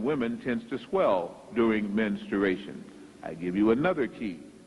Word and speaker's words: menstruation: it is based on menstruation menstruation many times it is pronounced ministration that is not correct but one thing is it starts with men menstruation menstruating women in